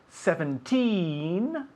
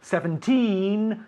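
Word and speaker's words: seventeen: and 70 see okay 17 and 70 17 70 you'll notice that 17 the the the emphasis is on the second syllable where 70 the emphasis on the first syllable so for example 13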